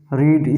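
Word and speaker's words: read: द अब देखिए जिस वाक्य थर्ड फॉर्म फिर रीड स्पेलिंग भी होती नहीं पढ़ते रेड यहां क्या कहेंगे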